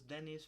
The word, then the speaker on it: Dennis: but instead it was Dennis from down the hill whose name everybody pronounce to rhyme with penis appearing even more disoriented